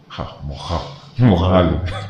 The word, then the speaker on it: Moghalu: Moghalu. Oh, so they don't pronounce the GH. It's GH. It's ha. Moghalu.